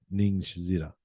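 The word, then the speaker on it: Ningishzida: Ningshida, I can't stop saying it. How are you saying it? I don't remember now. I was pronouncing the Z. You're Zida. Ningshida. Okay. Yeah, good.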